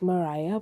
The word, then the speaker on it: Mariah: It's spelled Mariah, but it's actually pronounced Maria.